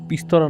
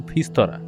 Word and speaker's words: ফিস্তরা: জায়গাটার ব্যাপারে উৎসব শুনেছিল, তাই বলল, জঙ্গলটার নাম পিস্তরা নয়, জঙ্গলটার নাম ফিস্তরা। স্থানীয় লোকেদের উচ্চারণের নামটা বদলে গিয়ে পিস্তরা হয়ে গেছে যদিও, কিন্তু জঙ্গলটা কিন্তু একটু ডেঞ্জারাস।